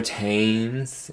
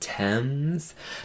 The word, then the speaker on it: Thames: Well, no, I just remember somebody was like, oh my god, you guys are saying Thames, River Thames. It's pronounced Thames.